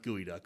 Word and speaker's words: geoduck: that picked up a gooey duck and if you have never like it looks like geoduck but it's pronounced gooey duck so google it if